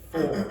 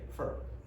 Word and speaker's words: for: Nobody says for. They say fur.